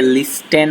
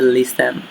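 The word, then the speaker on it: listen: এটাকে অনেকে লিস্টেন বলে, কিন্তু এটা উচ্চারণ হবে লিসেন।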